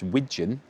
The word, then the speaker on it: wigeon: It's not pigeon that I'm mispronouncing. It's wigeon.